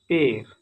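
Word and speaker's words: père: Next, it is completely mute at द एंड of certain words. कुछ words के last में ये आकर म्यूट हो जाता है, मीन्स साइलेंट हो जाता है। एग्जाम्पल, पेर पेर मीन्स फादर, जिसका साउंड प्रोनाउंसिएशन पेर पेर।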